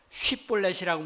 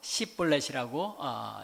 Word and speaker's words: 쉬볼렛: 마치 그것처럼 에브라힘도 쉬볼렛이라고 못하고 십볼렛이라고 발음했던 겁니다.